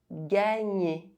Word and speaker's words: gagner: JN is pronounced Gn. Gagner.